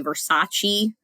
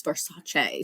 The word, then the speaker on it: Versace: who go on rants about people who say versace because they're like that's not the correct way to pronounce it it's for sachet so some people are very picky about that